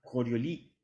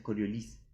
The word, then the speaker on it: Coriolis: el parámetro de coriolis yo juraba que coriolis se pronunciaba corrió lee porque era francés porque coriolis era francés pero alguna vez le pregunté a un francés cómo sé cómo sé cómo se pronunciaba y no se pronuncia así se pronuncia coriolis se pronuncia la desigual ya así que básicamente nosotros